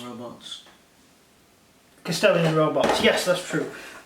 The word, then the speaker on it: Kastelan: Kastelan robots. Kastelan robots, yes, that's true.